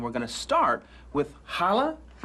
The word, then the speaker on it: challah: And today, we're going to make some traditional Jewish delicacies, and we're going to start with challah. Challah.